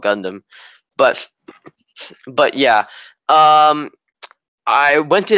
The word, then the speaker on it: Gundam: first heard about Gundam, I pronounced it as Gundam, like I was a kid, so it was that's how I first heard about that. I thought it was called Gundam, but it's actually called Gundam.